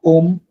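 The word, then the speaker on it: homme: সাউন্ডটা হয় না এইচ মিউটেড হয়ে যায় লাইক ওম অহ ইবে ইবে হচ্ছে উইন্টার অহ তো ঘড়ির টাইম মানে কয়টা বাজে ঘন্টা ওম হচ্ছে ম্যান তো এখানে আপনার এইচটা মিউটেড থাকে নর্মালি ওম অহ ইবে এই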